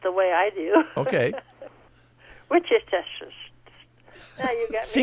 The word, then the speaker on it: Worcestershire: Well, I'll pronounce it the way I do. Okay. Worcestershire.